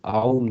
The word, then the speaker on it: аум: Потому что вот этот мастер Пуриджи тоже говорит, «аум» надо произносить горловым голосом. «Аум». И так очень низко.